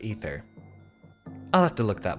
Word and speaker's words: Aether: the surface of aether is it ether or aether i think it's officially pronounced ether i'll have to look